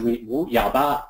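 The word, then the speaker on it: 五一八: the fifth month, and 18 is Yaoba, and which is 18, 1-8. So Wu Yaoba is the way you'd say 5-1-8 in Mandarin.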